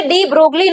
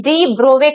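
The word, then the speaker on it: de Broglie: डी ब्रोवे concept की अगर बात करें तो इसे डी ब्रोगली नहीं पढ़ते, इसका सही प्रोनाउंसिएशन होता है डी ब्रोवे कॉन्सेप्ट।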